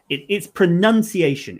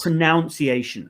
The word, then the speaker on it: pronunciation: So yeah, it's pronunciation. It's a in the middle, even though the verb is pronounce, so it's ow. It's not pronunciation, and I've got that wrong.